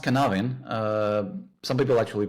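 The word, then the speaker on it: Cynefin: this uh uh this uh uh well it's pronounced canavin uh some people actually pronounce it as a sinophan but it's a matter of how you spell it.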